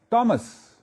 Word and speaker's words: Thomas: Please don't call it Thomas. It is Thomas, written as Thomas, pronounced as Thomas with a T. So don't commit that mistake of making the T soft. The T is hard.